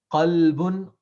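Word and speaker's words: قلب: that's why the proper pronunciation in the Arabic language is Very extremely important. important. Yeah. Mm. You just say qalbun means heart, kalbun means dog.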